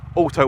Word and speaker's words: Alto: Suzuki this one is the Alo works or Auto Works depending on how you want to pronounce it quite similar in